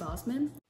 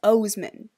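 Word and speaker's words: Oseman: is I Was Born for This by Alice Osman. I just realized, after I filmed this, just now, that I've been pronouncing their last name wrong. It's Osman.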